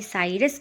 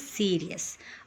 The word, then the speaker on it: Sirius: Sky, that is SIRIUS, जिसका pronunciation मैंने साइरस कह दिया था. That is actually not साइरस, that is सीरियस.